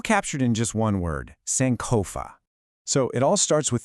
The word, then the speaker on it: Sankofa: You pronounce it Sankofa.